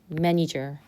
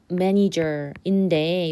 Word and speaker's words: manager: 지금 강세가 여기 있어서 보통 강세 받는데만 제 발음이 나고 나머지는 약간 슈어 발음이 돼. 그래서 manager manager 어 강세 없는 어 발음으로 하면 돼.